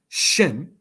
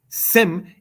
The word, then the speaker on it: Shem: Shem is the Hebrew word. Sem is the Greek transliteration of such. Since Greek does not have a sh sh syllable, it is thus in metathesis said as sem.